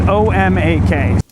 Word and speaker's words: Omak: But coasties never seem to know how to pronounce any of the town names in this area. Like, Omak is easy. It's O-M-A-K.